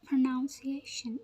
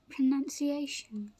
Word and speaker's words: pronunciation: you're pronouncing it pronunciation many people say it as pronunciation but it's not the right way to say it the right way to say is pronunciation so let's look at